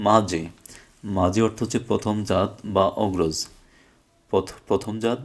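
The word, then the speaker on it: 맏이: তাহলে এটা হওয়ার কথা ছিল মিয়ম দ্বিগুত মা দি, এই যে দ্বিগুতটা এখানে চলে যাবে। তাহলে হওয়ার কথা ছিল মা দি, কিন্তু মাদি না হয়ে এই যে দ্বিগুত উচ্চারণ জ হয়ে যাবে, যার কারণে এটা হবে মাঝে।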